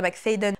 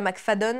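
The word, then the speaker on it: McFadden: prononçais mal son nom c'est pas Frida mcfaden mais Frida mcfadon je le prononce mal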